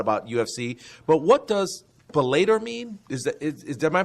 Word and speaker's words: Bellator: But Bellator has numbers as well. Oh yeah, Bellator. Thank you. Yeah, I didn't pronounce it right.